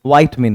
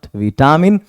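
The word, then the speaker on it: vitamin: multi वाइट मिन है इसकी जो करेक्ट प्रोनंसिएशन है वो विटामिन नहीं बल्कि वाइट मिन होगा इट्स वाइट मिन नॉट विटामिन और यह जो आप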